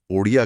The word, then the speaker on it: ओडिया: आठवीं अनुसूची में ओरिया भाषा का नाम बदलकर उसके सही उच्चारण के अनुसार ओडिया कर दिया गया।